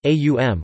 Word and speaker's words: Om: Phonologically, the syllable Om represents aum, which is regularly monophthongized to o tilde in Sanskrit phonology.